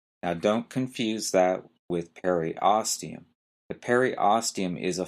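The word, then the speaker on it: periosteum: this one might be a little hard to pronounce is the per oium p e r i o s t e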